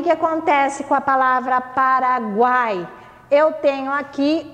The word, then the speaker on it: Paraguai: que prestar atenção em relação à que a pronúncia tá nesse caso a palavra paraguai é paraguai eu não tenho como falar para google ai